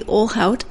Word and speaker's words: Ohlhaut: Do not pronounce it like you're trying to learn Portuguese. Ohlhaut and his daughter Grace Lai. Let me explain the Portuguese comment. The LH sound in Portuguese is a Lia sound, and that's not correct.